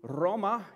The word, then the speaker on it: Roma: And at some point in his life, he travels to Roma. You got to roll your R's.